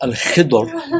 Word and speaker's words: Al-Khidr: Yes, Al-Khidr. It's pronounced Al-Khidr with a ba, which is a very difficult Arabic letter to pronounce.